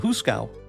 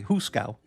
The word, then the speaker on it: hoosegow: It's called the Hooskow. The Who's? It would be spelled like HOOSEGOW, maybe phonetically. Hooskow.